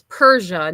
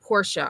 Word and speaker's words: Persia: Her name is Persia, not Porsche. I thought it was Porsche.